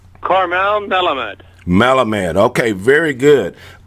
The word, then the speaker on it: Karmel Melamed: pronouncing your name correctly so for the audience pronounce you'd say your name the way it should be said Carmel melamed melamed okay very good of course I want